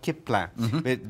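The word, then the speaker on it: Klippan: And then we go on to this is a Swedish company called Kippans, but it's spelled sort of like Kippans, K-L-I-P-P-A-N, and they do this beautiful sort of organic wool blankets.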